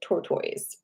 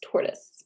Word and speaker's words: tortoise: pronunciation was Tor tortoise tortoise right I was pronouncing it ttoys um so you know whatever tortoise is how it looks but it's tortoise right tortoise shell tortoise shell tortoise shell all